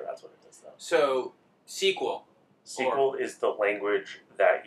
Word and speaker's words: SQL: about this discussion and if you pronounce it SQL it's okay yes but it is sequel like this generally there are products